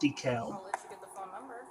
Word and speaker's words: DeKalb: because this is Illinois it's pronounced decal let me check the